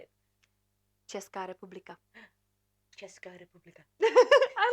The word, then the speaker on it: Česká republika: Česká republika.